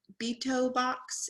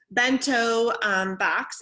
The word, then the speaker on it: bento box: lunch they have their be toe box is not how you say it back toe box yeah bento box and they walk in